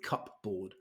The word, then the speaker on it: cupboard: so I'm going with cup board and again solid logic but that's just not how we say it in English this is a cupboard cupbo two syllables CBO so this lady is